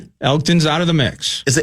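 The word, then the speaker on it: Elgton: Elton's out of the mix. Is it Elton? I never pronounced that correctly. Elgen, I believe Elton Elton's fine.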